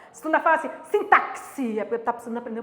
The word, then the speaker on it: sintaxe: A gente sabe que quanto a sintaxe, a pronúncia é essa, sintaxe, tá assim.